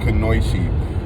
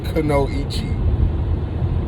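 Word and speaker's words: kunoichi: to most attracted to and that was the kanoichi now please i hear people online all over the place pronouncing this name that's how you pronounce the name it's not kano ichi i know the japanese people are cringing out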